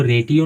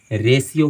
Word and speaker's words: ratio: एक उदाहरण है इसका RATIO, आप इसको रेटियो नहीं पढ़ते हैं, गलत उच्चारण हो, आप इसको करेक्ट रेशियो पढ़ते हैं।